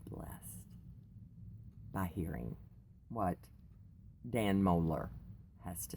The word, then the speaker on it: Mohler: say I have to read his name dan Mohler I think is how you pronounce it M OHL er and I will